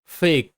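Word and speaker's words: fake: তাহলে এফ তে ফ, এ তে এ ফে, এফ তে ফ, এ তে এ ফে, কে তে ক ফেক, ফেক। এখানে কিন্তু শব্দের শেষে ই সাইলেন্ট।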